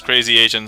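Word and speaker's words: Krazee Azn: Hi, also known as Crazy Asian, spelled with a K R A Z E. Uh, a ZN.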